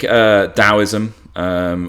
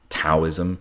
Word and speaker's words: Daoism: So I think Daoism, or if you're going for an older translation, the Wade Giles begins with a T, and some people pronounce Taoism, but it's really Dao, the Dao, the way.